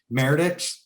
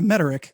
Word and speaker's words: Mederich: purpose growth podcast today i've got uh meredith did i pronounce it right yeah mederick close enough frederick uh herefore known unto now